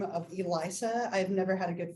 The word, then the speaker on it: Elisa: I have a name of Elisa. I've never had a good first day of school. Everybody always gets my name wrong. It's like Elsa now because of Frozen, or Elijah if they think I'm male, right?